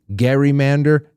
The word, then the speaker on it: gerrymander: suggested calling it a gerrymander, according to its account. Okay, it's Gerrymander. Gerry, the last name with that soft, uh, that that, uh, soft G. Well, it turned into a hard G, gerrymander.